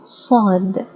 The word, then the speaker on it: صاد: So, Saad, Sa, ص, صاد, الص, الص, الص.